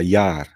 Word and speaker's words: yaar: bardzo przydatne bardzo potoczne z długim a prawda Jar Jar znaczyło przyjaciel kumpel